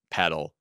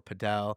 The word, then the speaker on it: padel: not the shits uh the second is I said paddle not padel well there's a big debate on whether it's called paddle or padel oh it's a debate